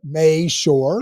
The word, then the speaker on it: Mashore: quick that quick well dude May sure May sure good job good job it only took you